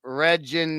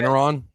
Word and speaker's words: Regeneron: Reginon, I don't know how to say. Regeneron.